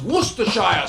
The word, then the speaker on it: Worcestershire: who just would just what just it is pronounced worcestershire sauce uh yeah yes that sauce uh use